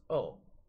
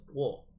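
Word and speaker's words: を: particles go are pronounced wah and wool is pronounced oh now this might help you then you might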